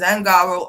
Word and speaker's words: Ungaro: Now, I could have sworn it was Ungaro, but it's Angaro, Ungard. I guess you can pronounce it both ways.